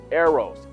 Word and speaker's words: eros: from a different perspective from the Bible perspective arrows pronounced arrows e ro s it's a Greek word for